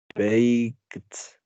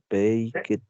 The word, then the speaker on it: baked: Baked. Baked. No. Olvídate de ladies. No, baked. Baked. O sea, es como si pronunciara la K y la T juntos.